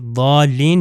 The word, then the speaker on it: ضالین: ہے، یہ ضاد کے لیے آیا ہے، یعنی ضالین یعنی گمراہ لوگ۔ مگر اگر اس کو مثال کے طور پر ضوئیں سے تلفظ کرے ضالین تو اس کا مطلب دوسرا